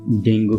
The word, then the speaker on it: dengue: তুমি যদি ইংলিশ ডিকশনারিতে এটা উচ্চারণটা দেখো তাহলে এটা পাবা ডেঙ্গি, তবে আমাদের দেশে এটাকে ডেঙ্গু বলেই সবাই চেনে, তো আমি ডেঙ্গু নামেই ব্যাপারটাকে বলছি।